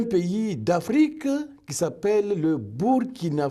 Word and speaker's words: Burkina: Alors, ce n'est pas du français. Voilà pourquoi on ne dit pas Burkina, mais Burkina, parce que le U, dans ma langue maternelle, se prononce OU.